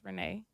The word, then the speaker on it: Rene: name is Renee. Okay. And the way it's pronounced, well, the way it's spelled, people would pronounce it wrong because it's Rene.